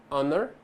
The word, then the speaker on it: honor: Há 4 palavras em que o H inicial não é pronunciado em inglês, ou seja, ele é silent. São essas a seguir. Então nós temos hour, honest, honor e air. Lembra que o H não é pronunciado, ok?